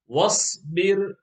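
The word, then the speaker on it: واصبر: In box number 10, the alif is not read, and it is easy to know why, because the alif doesn't have a haraka. Wasbir, wasbir.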